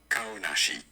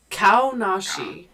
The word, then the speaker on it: Kaonashi: Name pronunciation. Kaonashi. Kaonashi.